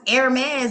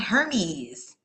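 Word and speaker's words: Hermès: Some people don't even know that it's pronounced Hermes and not Hermes. The H is silent, like an herb.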